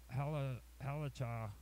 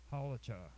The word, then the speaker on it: halakha: Latter authorities are less qualified to define the fundamental parameters of halakha, or halakha. Halakha is probably the way it's pronounced, and I apologize again for my bad pronunciations.